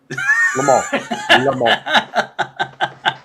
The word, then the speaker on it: Le Mans: Le Mans. We don't pronounce really the N or the S.